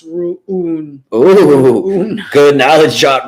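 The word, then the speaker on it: Rune: warrinka says for life said roon is apparently pronounced rooney good knowledge shot right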